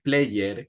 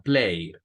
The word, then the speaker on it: played: Okay, so in this one, played, no es player, como a veces solemos decir, sino played. Como que fuera el mismo verbo play y le aumentamos un sonido de D.